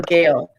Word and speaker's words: Gayle: I get Dale a lot. When I'm like Gayle, they're like Dale. No, Gayle.